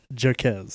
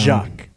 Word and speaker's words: Jacques: It is not pronounced Jaquez. I don't know. This is what I wrote down. Jacques. I wrote it down that way, so that is how it's spelled. Well, that's what I wrote down. It's French.